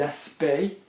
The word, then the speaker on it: aspects: Et des aspects, we don't pronounce the CTS because there's no E.